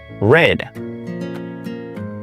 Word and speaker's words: read: Por ejemplo, read pasa a red, pero se escribe igual. Aquí solamente cambia la pronunciación.